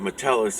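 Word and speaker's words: mitellies: m-i-t-e-l-l-i-e-s my tell lies so i pronounce it metellus it's spelled mitel lies or you could look it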